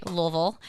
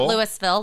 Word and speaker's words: Louisville: Have to say it right. Louisville. Not Lewisville. Louisville, Kentucky. Uh horse country.